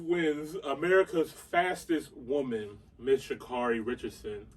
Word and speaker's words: Sha'Carri: america's fastest woman miss shikari richardson i apologize i got your name pronunciation incorrect prior but it should carry richardson um it was unfortunate